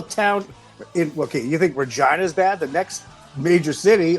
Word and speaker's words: Regina: Yes, that's the name, Regina, Saskatchewan. The city that rhymes with fun.